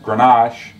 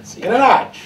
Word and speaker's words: Grenache: 40%, I'm sorry, 60% Grenache and 40% Elegante.